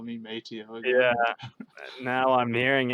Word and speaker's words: Mateo: So Okay, it's Mateo. Mateo. Yeah. Claro. That's the way you should pronounce it, but everyone just says Mateo, and I say Mateo. Only my parents and my grandparents and my sister call me by that.